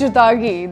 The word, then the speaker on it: Chutagi: Number 6, vegetable shiitake. And you heard me right. This is how it's pronounced, shiitake.